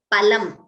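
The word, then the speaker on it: पलम्: For example, phalam, pha, mahaprana, means fruit, whereas palam, alpaprana, means meat. Now, I already told you, pha, please note the pronunciation, it is phalam, it is not phalam.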